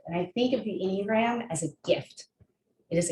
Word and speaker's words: Enneagram: So Enneagram, pronounced Enneagram. It is Ennea, meaning 9, gram, something written or drawn.